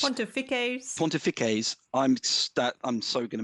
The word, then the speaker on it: pontifices: the pontifex or the pontifesses. Pontify, I'm not pontifesses. It doesn't sound right. It's probably the way you say it. I've done it. It's Pontifices.